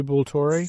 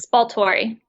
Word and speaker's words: Spaltori: Cherie Bultori? Spaltori. Oh my gosh, I'm just messing this all up.